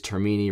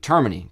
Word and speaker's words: Termini: My last name is Termini, rhymes with Germany. So like Termini, got you.